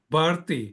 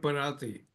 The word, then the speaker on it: Bharti: The name pronunciation is Bharti, not Bharati. That's okay.